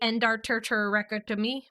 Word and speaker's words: endarterectomy: Endarterectomy are the syllables, but I kept splitting up the syllables or adding extra syllables. Like I added too many ters. So it would be endarterectomy.